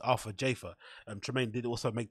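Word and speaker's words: Arthur Jafa: with Arthur Jaffa which now we know his pronunciation is not after Jaffa it's Alpha Jaffa and Tremaine did also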